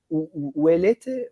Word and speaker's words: Ouellette: Ouellette, how do you pronounce?